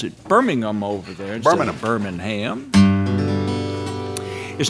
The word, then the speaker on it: Birmingham: They pronounce it Birmingham over there in Birmingham.